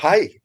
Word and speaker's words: Hej: And so you had one record, is it pronounced Hej Beatles? Is that? Hi Beatles. Yeah. Oh, Hi Beatles.